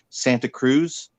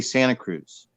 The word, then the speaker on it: Santa Cruz: Like people will say Santa Cruz. We don't say Santa Cruz. We say Santa Cruz. So if anybody who's ever like been there or from here knows that it's Santa Cruz and Los Gatos, San Jose.